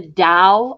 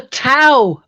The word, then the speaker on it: Tao: Oh, the Tao of Pooh with a T. Yeah. Yes. I've got that. Yeah, with a T, but I believe it's pronounced with a D, isn't it?